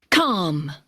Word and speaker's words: calm: Calm. Calm. Calmly. Calm. Recuerden, la L es silenciosa.